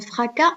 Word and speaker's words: fracas: Un fracas, on ne prononce pas le S.